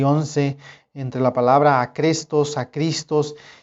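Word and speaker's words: ἄχρηστος: Y en la pronunciación en el griego, muchos eruditos dicen que muy probablemente la pronunciación de ambas palabras, acrestos y acristos, la pronunciación era igual.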